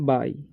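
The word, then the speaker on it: buy: Horse which I want, ठीक है, टू, इसे बुई नहीं पढ़ना है, इसे पढ़ना है बाई। ओके, यू का उच्चारण यहाँ पर आई हो रहा है, ठीक है, आ हो रहा है, ठीक है, तो बाई पढ़ेंगे।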